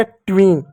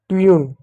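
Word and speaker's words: tune: ट्विन ट्यून ट्यून होता है ना? ट्विन नहीं ट्विन। ट्विन नहीं ट्यून। ट्यून ट्यून ट्विन नहीं।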